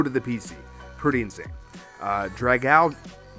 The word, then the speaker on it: Dragalge: Dragalge. That's how you say it, Dragalge.